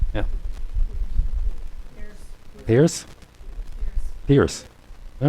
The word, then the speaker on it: Pierce: I'm told that it is pronounced Pierce. Yeah. Pierce?